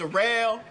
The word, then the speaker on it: Daryl: It's spelled like Daryl, but it's pronounced Darrell.